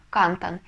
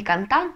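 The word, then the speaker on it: cantan: следующее слово они поют будет читаться оно Кантон не кантан а Кантон потому что слово заканчивается на энное значит ударение на предпоследний слог Ну и последнее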